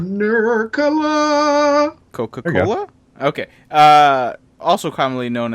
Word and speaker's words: Nurkkala: Somehow in the FPV community, it's become a fun joke to mispronounce my weird spelled last name in as many different ways as possible, but it's Nurkkala. Nurkkala. Nurkkala.